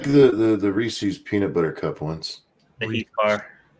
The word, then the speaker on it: Reese's: I like the the Reese's Peanut Butter Cup ones are weirdos this is Reese's yeah it's Reese's Pieces not a monkey it's rhymes with pieces Reese's piece it's not